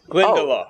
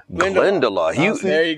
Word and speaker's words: Glendalough: Pronounce the word. What is that? How do you say it? Glendalough. Oh. Glendalough.